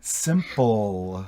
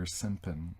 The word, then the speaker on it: simple: Simple. Yeah. Sometimes I hear simpin or simpan.